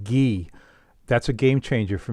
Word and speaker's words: ghee: sea bass because I've discovered you oh I'm liking that hmm yeah I'm gonna be eaten good all right that container it's pronounced ghee that's a game changer for me for cooking